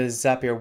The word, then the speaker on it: Zapier: fascinating programs on the zapier website and now i've corrected my pronunciation as up here so thank you for that rhymes with happier that's easy to remember